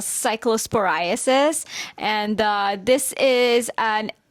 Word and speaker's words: Cyclosporiasis: Cyclosporasis or Cyclospora or how exactly do you pronounce it? We can start from there. Yes, so the disease itself is called Cyclosporiasis.